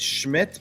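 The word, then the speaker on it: Szmyt: So, his name is pronounced Schmidt, but there's no s.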